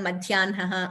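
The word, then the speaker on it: मध्याह्नः: So, these are certain exceptions to where we pronounce in a particular way, though we write slightly differently.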